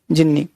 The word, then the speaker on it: genii: ये भी होता है, लेकिन राइट कौन है, जिन्नी। हनुमान सेव्स फ्रॉम जिन्नी, देखिए स्पेलिंग, टाइपिस्ट GENII जिन्नी, ठीक है।